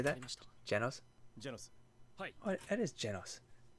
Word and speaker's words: Genos: Genos? Oh, it is Genos. I thought it was always a ge sound on the Genos.